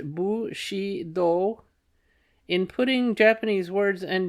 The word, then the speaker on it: Bushido: understanding feudalism and Bushido footnote pronounced bu she do in putting Japanese words